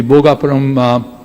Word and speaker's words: Bhogapuram: And precisely what SAP or the Seletar Aerospark has done, we can do the same thing in the Bhogapuram Aerotropolis, that's how it's rightly pronounced.